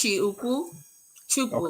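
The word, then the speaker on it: Chukwu: what is what is meant by the term chuku and how do you actually really say it all right I want to give you Pro it's it's pronounced chiu chuku okay um it's Chi and uku okay and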